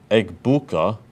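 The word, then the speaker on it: Egbuka: Eggbuka. That's how how you say it, Grankon.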